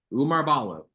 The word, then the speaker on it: Oumar Ballo: to brother miles rice as we mentioned earlier Umar Balo is how you pronounce it some folks have struggled with that